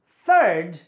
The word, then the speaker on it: third: the third let's turn when you say third you place your tongue between your teeth third when I say